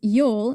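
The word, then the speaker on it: Jól: The holiday features prominently as Jol, J-O-L, in the Prose Edda, an Icelandic epic written down around 1220 AD.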